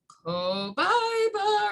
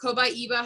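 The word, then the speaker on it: copaiba: to talk about is cobaiba or cobaiba, however you pronounce it, depending on where you're from. People say it's cobaiba. Some people pronounce it as cobaiba. Either way works, guys, I'm telling you.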